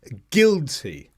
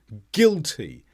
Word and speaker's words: guilty: I should have said guilty and there are lots of words where we don't pronounce the U after the G guilty guitar but not always